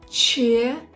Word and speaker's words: четыре: Четыре.